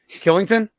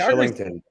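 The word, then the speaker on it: Kylington: Killington? Yeah. Oh, there's another one. I think it's pronounced Shillington.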